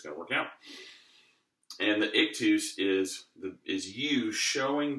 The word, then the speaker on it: ictus: very relaxed now the next thing is called ik tus and if this wasn't so load low-budget or whatever I would I would spell it to for you on the screen but